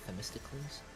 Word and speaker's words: Themistocles: Themistocles? Noted, guys. Gotta know this when I make the script because I can't butcher these names.